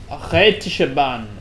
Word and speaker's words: Rätische Bahn: How's that meant to be pronounced? How is this pronounced? Rätische Bahn. Rätische Bahn.